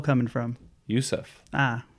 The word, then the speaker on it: Ouseph: the O coming from Yousef ah o is silent the O is silent you don't get too